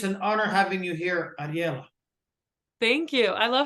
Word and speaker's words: Ariella: yeah I it's great a lot of people uh say arel which is not correct but you nailed it